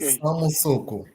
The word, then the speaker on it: Samussuku: ¿Es Samusuku la pronunciación? Sim, isso mesmo, Ok, Samusuku.